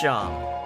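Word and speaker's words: Seam: The name's Sham, pronounced Sham.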